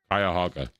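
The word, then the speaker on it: Cuyahoga: Akran's past the Kuyaoga Valley see Kaaga Kayahaga that's how you pronounce that scenic railroad and the Akran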